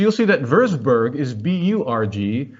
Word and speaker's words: Burg: So you'll see that Würzburg is B-U-R-G, whereas Marienberg is B-E-R-G. In English, we tend to pronounce those the same, but in German, they are completely different words. A Burg, B-U-R-G, means a defensive medieval castle, whereas a Berg, B-E-R-G, means a mountain.